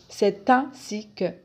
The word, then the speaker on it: c'est ainsi que: un connecteur de justification la prononciation simplifier ses ainsi que on fait la liaison entre le sait et le ainsi c'est ainsi que c'est ainsi que 1